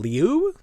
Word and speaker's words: Liu: Her name is Alyssa Liu? Liao? Do you know how to pronounce this? Everyone knows. Is it Lou? Yeah. Like Cindy Lou Who?